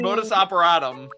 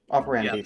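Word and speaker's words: modus operandi: the voice of L whose entire like something modus operatom is that how you say it? Yeah, that's correct. Operandi technically, but yeah, operandandy.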